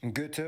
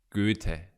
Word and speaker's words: Goethe: How did he pronounce? Goethe? Institutions. Also home to the German Stock Exchange. Goethe, one of the... Goethe. Please. Goethe. Most important writers in German history is from Frankfurt.